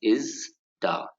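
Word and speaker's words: ISDA: member of an organization called as ista it's pronounced as is da and is the stands for International Swaps and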